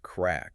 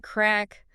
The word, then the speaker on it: craic: And real quick, for anyone reading along, that word is spelled c r a i c, but it is explicitly pronounced crack. Right, crack.